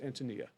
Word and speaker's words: Antonia: Antonia Demas on overhauling food education. Actually, her name is pronounced Antonia.